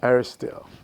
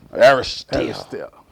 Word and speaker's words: Aristhyl: go ahead and pronounce that last name so I don't mess it up. Aristhyl. Aristhyl.